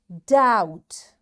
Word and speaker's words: doubt: Doubt B is silent and doubtful.